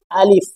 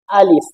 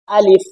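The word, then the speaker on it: ألف: চোখ বোলানোর পর দেখবেন আমরা অনেক সময় ভুল করে থাকি যে আলিফ, আমরা অনেকে পড়ে থাকি আলিফ, তো সেইভাবে পড়লে হবে না, আমাদেরকে এভাবে পড়তে হবে আলিফ। আমাদেরকে কিভাবে পড়তে হবে? আলিফ।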